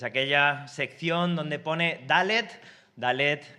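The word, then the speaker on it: דלת: sección donde pone dalet dalet es una consonante hebrea que se pronuncia como nuestra d vale Así que es ese sonido d y todas las eh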